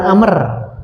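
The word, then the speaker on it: عمرو: Ini Umar tidak ada wau. Kalau Amr masih begini tulisannya Amrun.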